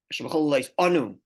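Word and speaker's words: אנו: The Rebbe tells us how to pronounce the word Anu. Anu, which means we dip. Ha'aleph kamutza, the aleph shava kamatz, Anu.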